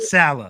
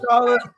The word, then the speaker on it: Saleh: The defense Robert Saleh. Yeah, put some respect on that motherfucking name. Robert Saleh, like, he went out there and he beat him.